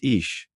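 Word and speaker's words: Ix: It is the domain of white nine pronounced ish.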